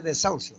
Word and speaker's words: desahucio: ¿Cuántas sílabas tiene desahucio? Si la vea desahucio. ¿3? 3. La primera es de, la segunda es sau y la otra es sio.